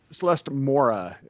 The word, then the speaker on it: Celeste Mora: Celeste Mora. I pronounced that right? You did. Well done.